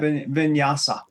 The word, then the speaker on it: vinyasa: Vinyasa.